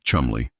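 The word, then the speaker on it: Cholmondeley: The man who conceived Operation Minsmeat was flight Lieutenant Charles Cholanderly, pronounced Chumley.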